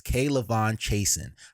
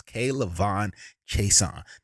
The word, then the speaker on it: K'Lavon Chaisson: there for me at edge and that is K'Lavon Chaisson. I learned how to say his name in his press conference. K'Lavon Chaisson.